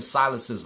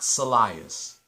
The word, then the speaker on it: Silas: Henry you're pronouncing Stephen silas's last name wrong it's Silas not salias s-i-l-a-s so when you think of the name Silas think of birthday boy Method Man's character from how high Silas is how you